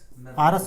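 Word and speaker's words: ours: थे आज एच ओ यू आर एस इसको हम बोलते हैं नॉट हार्स आरस नहीं तो इसको आर्स बोलते हैं ठीक है इस तरीके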